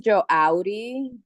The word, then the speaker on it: Joaudi: Her name is Joaudi, We call her Joa.